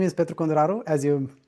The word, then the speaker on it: Petru Conduraru: Um, my name is Petro Kondaro as you pronounce it very correctly.